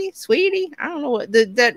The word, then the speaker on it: Saweetie: I want to say Saweetie, but it's Sweetie.